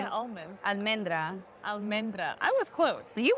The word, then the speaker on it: almendra: Almendra. Almendra. I was close. You were close. You said almendro or something. You made up a new name. I did. Almendra.